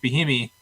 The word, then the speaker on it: Bieniemy: Yeah, I mean, and, to go further into that, he wants, Eric Bieniemy, sorry for pronouncing the name wrong.